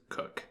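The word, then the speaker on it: Koch: recipe after all however his grandfather's name was Louis cook spelled K o CH and through enough life experience Jim realized that people often mispronounced it and he really didn't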